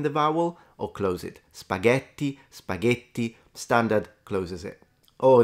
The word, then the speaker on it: spaghetti: is teaching it right spaghetti not spaghetti so in this case they are taking into consideration the phenomenon of pronouncing the T as a soft D which is actually in linguistics called flapping and it tends to